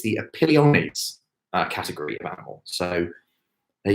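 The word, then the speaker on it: Opiliones: have to look this up in terms of pronunciation. It's the Apiliones category of animal.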